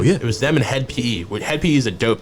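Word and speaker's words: Hed PE: HED. And then it's PE, like P.E.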